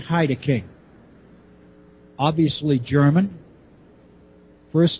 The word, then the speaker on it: Heideking: The author of the book is Jürgen Heideking, obviously German. First name Jürgen, J-U umlaut, R-G-E-N. Last name is spelled Heideking, H-E-I-D-E-K-I-N-G.